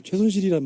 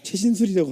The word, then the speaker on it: 최순실: 이제 최순실이란 말 이렇게 많이 붙었는데도 아직도 발음이 안 돼. 최신술이라고 하는 저 양반.